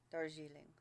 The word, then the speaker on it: Darjeeling: So it's So more like, of a the D is like a G. Yeah. Darjeeling.